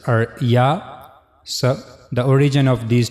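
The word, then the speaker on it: ياء: Middle of the tongue will touch to the roof of the mouth. So that's how you can easily pronounce yah.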